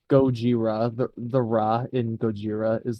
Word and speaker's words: Gojira: Also, I like how it's like Gojira. The Ra in Gojira is the same as the Ra in Akira. Because they're both technically the same like syllables in Japanese as well.